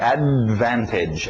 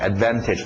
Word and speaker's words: advantage: Então, em inglês é assim, a gente engole esse D, não fala o D, right? Advantage, advantage. Pronúncia rápida, tira o T, advantage, advantage.